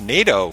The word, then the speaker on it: Nadeau: His last name is pronounced Nadeau for us Canadian listeners, and spelled Nadeau.